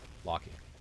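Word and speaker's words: Loki: to type locky, but it's spelled L O K I. Locky. Blaze is too slow for jokes. What joke am I missing? You mean the right way? Locky. Locky. Locky. That's That's how you pronounce it.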